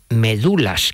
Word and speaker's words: médulas: que no le sorprenda dice bien médulas que es como se decía entonces muchas veces sean gloriosa gente dice médula sino entonces que el ritmo se pierde es medular con acento en la segunda bueno los recita también